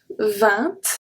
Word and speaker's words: vingt: So when we have 20, we can say vingt, vingt. So we don't pronounce the G, vingt, or we can say vingt. 20. Both work, both are correct.